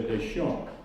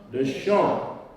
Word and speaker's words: Deschamps: S is silent, but we retain the P. And we say Deschamps. Now let's all say that. Leon Deschamps. Pretty good. One more time. Leon Deschamps.